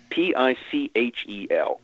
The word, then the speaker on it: Pichel: And this is a guy whose name was Charles Pitchell, P-I-C-H-E-L. Sometimes they like to pronounce it Pichel because it sounded, more French.